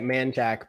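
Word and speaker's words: Manchaca: do this to uh manchak people that aren't from around here i don't know why you say it man jack but that's how you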